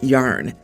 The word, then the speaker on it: Jan: until I explain that it's pronounced yarn and he's a 6'7 bloke.